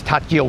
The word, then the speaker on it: takjil: Like it's spelt takjil, but you don't say the K. But I think you might have to sort of not just ignore it either.